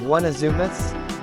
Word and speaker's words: 1usmus: is test mem 5's 1usmus pronounced as one of zumas I've only run the